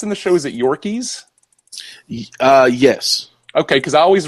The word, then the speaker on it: Yorkes: the surface we've got dirt rude is it pronounced in the shows that your keys yes okay cuz I always read it as